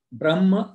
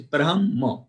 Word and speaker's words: Brahma: in the first verse there is a word Brahma repeated three two times Brahma and sakshma please